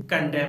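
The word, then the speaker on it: condemn: इसीलिए ऐसे वर्ड को हम कहते हैं आटम, सोलेम, कालम, डैम, हिम, कंडेम, यानी इन सभी वर्ड्स में लेटर एन साइलेंट होता है।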